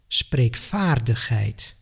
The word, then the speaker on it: spreekvaardigheid: For example, you will hear 40, 50, spreekvaardigheid. That's the sound of an F, not of a V.